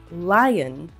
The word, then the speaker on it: lion: In parrot and lion, we do not pronounce the O sound.